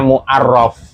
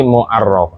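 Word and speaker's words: المعرَّف: Makanya bacanya muarof. Muarof. Mufa'al bukan mufa'il. Kalau mufa'il memakrifatkan nanti. Tapi muarraf.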